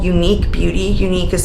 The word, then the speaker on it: Unique: is from a Indie brand and it's called unique beauty unique is spelled EU n-i-q-u-e and it's a brand from